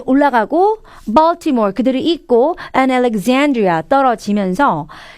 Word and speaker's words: Alexandria: example 이 발음처럼 Alexandria 이 발음이에요.